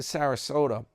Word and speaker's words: Sarasota: Your friend New York Dan, it's covering Tater and we'll be back to Sarasota rhymes with Yoda.